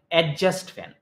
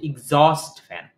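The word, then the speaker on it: exhaust: তো আমাদের দেশে এটাকে বলা হয় এডজাস্ট ফ্যান। এডজাস্ট মানে কি? কোন কিছু এডজাস্ট করা। আসলে এটার ইংলিশ এটা না। এটার ইংলিশ হচ্ছে এক্সজস্ট ফ্যান।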